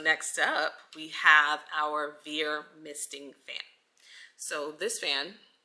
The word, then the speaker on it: Veer: taking up space in your house so this Veer fan I believe that's how you pronounce it the brand is v-e-e-r vir so it's a misting fan so essentially what